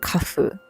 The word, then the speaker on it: KAF: It's pronounced kafu.